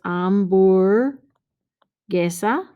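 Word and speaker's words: hamburguesa: is a cognate but remember the h is not pronounced in spanish so it's ombur gesa this one happens to be la amborgesa con queso right remember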